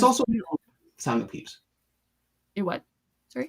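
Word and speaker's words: Pepys: Well, and with a name like Peeps spelled like that, you just What?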